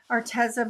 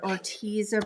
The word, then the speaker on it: Arteza: I would say that this Arteza brand or Orteza brand, it depends on how you say it.